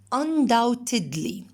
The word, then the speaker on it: undoubtedly: The second one, undoubtedly. B is silent. Undoubtedly.